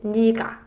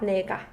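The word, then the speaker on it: 네가: So 네 can also mean yes, but when 네 means you, it's read 니, not 네. So this one is read 니가, 니가, not 내가.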